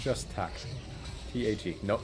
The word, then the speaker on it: Tag: T-A-G. No, not B-tag. Which also means day in German. Pronounced Tag.